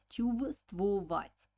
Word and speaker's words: чувствовать: The spelling of this word is чувствовать, чувствовать, but pronunciation will be like чувствовать, чувствовать. So the first V, the Russians don't pronounce. It's mute sound.